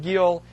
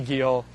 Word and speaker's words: Geel: American literature um and it's pronounced G in kind of a a Flemish way I can't do that so it will be Gil uh throughout okay so